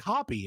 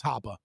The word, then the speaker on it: Hoppe: And so people will come in and be like, Hoppy. And it's like, that's not how you say his name, but it's German. It's Hoppe.